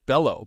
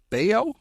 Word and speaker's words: Bello: Because I almost pronounce it Bello, but it's Bayo, Brian Bayo of the Scott Baio.